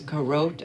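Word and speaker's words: Carote: recently off of Amazon the label is corrode I think it's pronounced CA r o te there are stone pans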